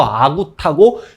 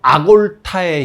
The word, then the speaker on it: 아골타: 일단 청나라 시대에 거란족의 역사서 요사와 여진족의 역사서 금사, 그리고 한족의 역사서 송사가 만들어지는데, 그 금사에 금나라 시조 아구타, 우리 발음으로 아구타고 진짜 원음으로는 아골타의 시조는 완안 한보시다라는 기록이 있습니다.